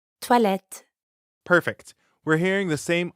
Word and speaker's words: toilettes: There's an S at the end of the word for bathrooms, even though you don't pronounce it. Toilette. Toilette.